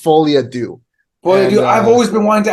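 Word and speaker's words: Folie à Deux: I hope Joker Folle Dukes. I can't pronounce it.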